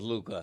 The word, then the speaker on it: Luka: You just love that hookah rhymes with Luka.